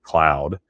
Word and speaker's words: McLeod: you'll look down and you'll see MCLEOD spelled and pronounce it McLeod, and the locals call it Cloud.